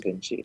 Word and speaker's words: Vinxi: Um, so the name comes from that. Obviously, VINCI was probably not available, and the X was just to replace the C. I mean, So the pronunciation is Vinci.